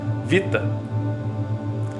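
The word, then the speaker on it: βήτα: identificar como homem Beta se usarmos a pronúncia do grego moderno temos então um novo som para a mesma letra Vita Vita vem do latim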